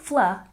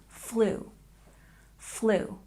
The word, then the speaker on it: flu: And salary, we stress the first syllable. Salary, salary. And flu, it's not fla, it makes the long O sound. Flu, flu.